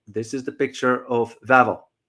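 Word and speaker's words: Wawel: vavo vavo it's a spelled w a w a l but it's pronounced V because W in Polish language is pronounced as V for example when you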